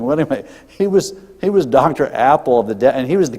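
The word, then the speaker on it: Appel: No, his name is Dr. Apple. It's spelled differently. It's A-P-P-E-L.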